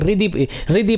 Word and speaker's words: हृदि: तो नश्यन्ति दर्शनात् तस्य कवचे हृदि संस्थिते, कई लोग हृदि पढ़ते हैं तो हल्का सा हा का उच्चारण और रा रहेगा साथ में।